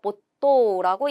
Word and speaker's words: 没頭: 몰두할 때 몰은 원래 모츠인데요. 뒤에 타행이 오면서 이 츠가 뭘로 바뀌었어요? 초금으로 바뀌는 거예요. 그래서 보또라고 읽는 것.